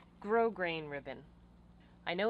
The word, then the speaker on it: grosgrain: I'm using for all of this is called grosgrain ribbon I know it's spelled grosgrain but it's pronounced grosgrain now normally I would put some boning in